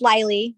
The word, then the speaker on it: Lily: This is Lily, rhymes with Smiley, and I live in the San Francisco Bay Area.